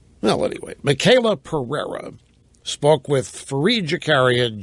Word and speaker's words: Michaela: The women, Michael with an A on the end of it. You pronounce it Michaela. Well, anyway, Michaela Pereira spoke with Fareed Zakaria, GPS host, Fareed Zakaria, GPS, about the U.S.